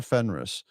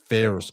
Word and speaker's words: Ferrus: But but but Father Fenris, first of all, am I pronouncing his name right? I feel like I'm not pronouncing his name right. Pharaoh. Pharaoh. Ferrus.